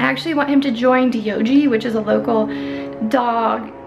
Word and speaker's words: Diogi: So Diogi is D-I-O-J-I, but when you pronounce it, it's like D-O-G, dog, kind of.